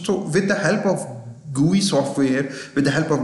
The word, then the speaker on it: GUI: It is pronounced as GUI.